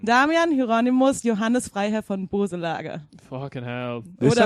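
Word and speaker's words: Boeselager: Do you think like the E is actually a Dehnungs-E, so it's like Boselager? So you don't pronounce the E. Not Böselager.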